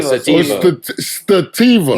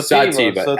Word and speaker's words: sativa: I said it wrong. What is it? Sativa? Sativa. Stativa. No, sativa. Sativa. Stativa. Yeah, did I get that? Did I do that right?